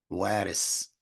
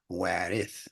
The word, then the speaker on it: Warith: People from Pakistan and other places, they might say Waris, W-A-R-I-S, but people in other parts of the world are going to say Warith with a T-H because